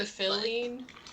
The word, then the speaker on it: Philene: It's Dr. Philene, like Dr. Phil.